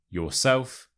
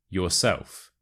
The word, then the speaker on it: yourself: so it's suit yourself for the word yourself the stress is on the first syllable yourself yourself so it's suit